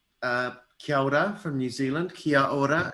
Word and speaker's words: kia ora: rest of the world um so uh kyoda from new zealand kia ora it's k-i-a-o-r-a so